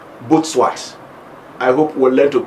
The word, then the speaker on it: Butswat: Well, most of us will call this name Butswat, but he told me the name is pronounced Butswat.